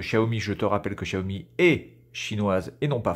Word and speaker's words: Xiaomi: lire ceci voilà donc la prononciation en chinois de cette marque là c'est cher vie voilà alors après tu